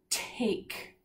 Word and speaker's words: take: to that word take it's a four-letter word and as a silent e at the end take right it's right there take2 e makes the 8 say it's named egg or the long vowel take underlining that with